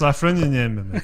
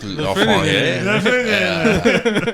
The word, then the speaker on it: Lafreniere: I was going to say, that's not how you pronounce it. Luke It's Lafreniere. Luke Lafreniere.